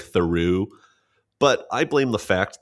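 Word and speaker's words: Theroux: Yeah, we did get some listener feedback from Asher S that I'm not pronouncing Louis Thuru's last name correctly, which is true. It is more like Theu, but I blame the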